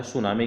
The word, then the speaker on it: tsunami: शुरू होती है मित्रों टी क्या होता है साइलेंट होता है फिर एस यू एन ए एम आई होता है ठीक है ना टी एस यू एन ए एम आई होता है सुनामी की स्पेलिंग ये जरूर